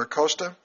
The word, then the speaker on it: Acosta: Alexander Acosta, the Dean of the College of Law at Florida International University. Did I pronounce that right?